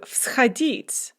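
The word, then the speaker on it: всходить: So vschodit, to go upwards. Ch is voiceless, and so we write vs in front of it.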